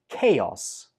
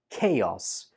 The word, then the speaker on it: chaos: It's pronounced with a k sound.